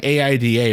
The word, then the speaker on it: Aida: we're just gonna go she had said AI da four times so that's what I wrote that's what I'm picturing in my head but pronounced Aida you uncultured swine hey Stephen Oh Stephen